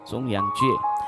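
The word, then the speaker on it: 重阳节: Kalau salah sebut tolong diluruskan ejaannya, yaitu disebut dengan Zhong Yang Jie ya. Dan Zhong tengah ya, Zhong itu tengah ya, bukan Zhong Yang Jie Jie ya, Zhong Yang Jie.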